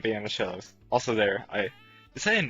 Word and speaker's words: Shellos: I am the coach of the Shellos, okay? Pronounced like banana. The Shellos.